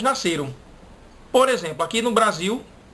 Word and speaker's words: Brasil: do nosso país de Brasil. Mas as pessoas de fora, de outros países, que não criaram essa regra de que L no final de palavra tem som de U, elas pronunciam Brasil, que